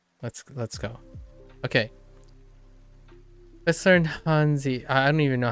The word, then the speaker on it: 汉字: Let's learn Hanzi. I don't even know how to pronounce Hanzi. Actually, we can. 汉字 Hanzi. Oh, it's 汉字 okay. It's second tone.